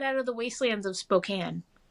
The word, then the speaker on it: Spokane: of the wastelands of Spokane or as non-natives call it who canoo spooky can no they don't know how to pronounce it but it's really funny